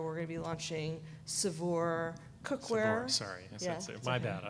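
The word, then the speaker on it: Saveur: As they say at the office, it rhymes with cat fur.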